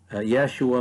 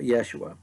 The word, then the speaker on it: Yeshua: jesus given name joshua yeshua which is how they would have pronounced it in in the first century and first century aramaic to the best of